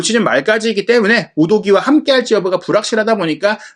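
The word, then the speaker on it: Udogie: 토트넘은 이번 경기를 앞두고 이탈리아 청소년 대표 왼쪽 윙백 데스티니 우도기 선수를 영입했습니다. 저희가 우도지라고 알려드렸었는데 실제 발음이 우도기라고 본인이 소개했기 때문에 우도기로 정정하겠습니다.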